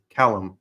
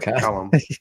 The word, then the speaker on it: Callum: I've already forgotten how to say his name. Callum. Is that right? Callum. Yes. Yeah. Is that right? That is correct.